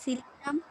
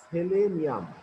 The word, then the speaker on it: সেলেনিয়াম: Oxygen, sulphur, sir oxygen, sulphur, সিলিয়াম, সেলেনিয়াম। টেলিরিয়াম, পলোরিয়াম, না, উচ্চারণগুলো একটু ভুল হচ্ছে। সেলেনিয়াম, tellurium.